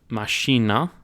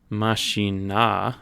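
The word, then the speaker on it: mașina: It sounds like the emphasis almost switches to the penultimate, the first syllable to make the car.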